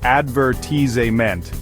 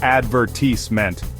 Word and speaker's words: advertisement: In the US, advertisement is pronounced as advertisement, emphasizing the second syllable. But in the UK, it's advertisement, with a completely different rhythm.